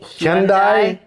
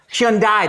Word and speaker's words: Hyundai: knowing how to say Hyundai? Hyundai, that's what it was. I was saying Hyundai. but I was giving you the Hyun. You got the Hyun right. You just didn't get the die right.